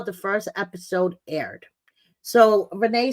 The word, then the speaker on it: Rayne: from the moment Renee whose name is spelled rain but pronounced Renee popped up on my